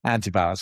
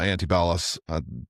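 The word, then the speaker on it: Antibalas: I really like how you say antibalis. It's probably the correct way to say it. If I say it too quick in the south here in Florida, it's just antib. Sounds like two words to me.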